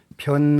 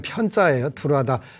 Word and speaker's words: 변: 불교 에서 는 일반 적 으로 ' 변 ' 으로 읽히고 발음 되는 것 이 일반 적 입니다 . 원래 는 ' 편 ' 입니다 .